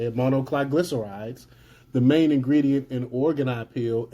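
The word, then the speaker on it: monoglycerides: But despite all this, the WEF, Gates, and other globalist entities are insistent that monocliglycerides, that's how you say it, monocliglycerides, the main ingredient in Organipeel and Apeel, are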